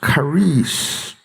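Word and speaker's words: charis: it is the translation of the Greek word Karis it is spelled c-h-a-r-i-s it's pronounced Karis in its use among the Pagan Greeks the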